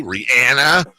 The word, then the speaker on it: Rihanna: It's actually pronounced Rihanna.